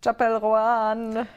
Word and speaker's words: Chappell Roan: Chappell Roan. She said it's okay if we pronounce her name wrong.